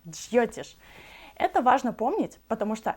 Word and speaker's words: Джйотиш: Не Джойтиш, как многие произносят, а Джьотиш.